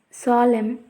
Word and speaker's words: solemn: If we see the condition, at the end of a word, N is not pronounced when it comes after a M. Let us see the examples column, condemn, autumn, solemn, etc.